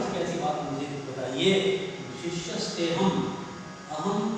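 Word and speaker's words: शिष्यस्तेऽहं: अवग्रह का तात्पर्य है यहाँ अ है ऐसा ध्यान रहे, लेकिन जब हम श्लोक बोलते हैं उसको अ का उच्चारण नहीं करना है। कैसे बोलेंगे? शिष्यस्तेहम शादिमां त्वं प्रपन्नम।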